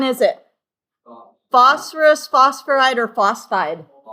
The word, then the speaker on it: phosphide: Phosphorus phosphoride or phosphide? Phosphide, two syllables. Not phosphoride, three syllables.